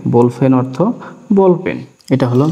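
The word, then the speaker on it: 볼펜: বিউব শুরুতে আছে এবং নিচে বাচ্চিম আছে, এই কারণে ব এবং ভর মাঝামাঝি উচ্চারণ হবে, তাহলে হচ্ছে বোল। এরপরে ফিউব হ, এর সাথে দিলাম একার, নিচে দিলাম নিউন, এটা হলো বোলফেন। বোলফেন অর্থ বল পেন।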